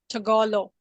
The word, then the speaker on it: Tagalog: It's called It's actually Tagalog. it's pronounced like Tagalog.